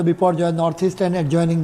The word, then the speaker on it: Biparjoy: very severe cyclone स्ट्रम बाय बपो Joy pronounce as अ बपो Joy north east and एड